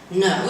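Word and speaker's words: know: No doesn't have a k sound, nor does it rhyme with now, and could doesn't pronounce the L sound, and put doesn't rhyme with but.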